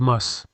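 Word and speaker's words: musth: During mating season, males enter a state called mus. That's spelled M-U-S-T-H.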